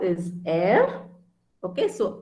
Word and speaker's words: Be: R is air. Okay, so R is one word which literally should be heard, like very vividly, like air.